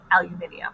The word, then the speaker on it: aluminium: different and on your iupac periodic tables it is spelled aluminium so sometimes you see the aluminum sometimes you